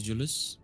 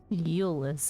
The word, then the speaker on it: Eulus: Let's talk to Julius. Yeah. Eulus, as we have found his name to be pronounced.